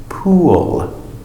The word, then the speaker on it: pool: Pool. We have the sound oo to l, extra sound.